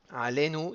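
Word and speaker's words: עלינו: Alenu sera milleel.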